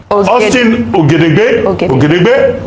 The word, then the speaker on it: Austin Ogedegbe: Austin Ogedegbe, that's the correct pronunciation.